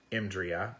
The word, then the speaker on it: EMDRIA: You can find it through going to EMDRIA, EMDRIA, we usually pronounce it as a word, .org.